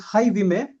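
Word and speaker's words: Jaime: My first name is Hyime like Haime. The Spanish J pronounced as H.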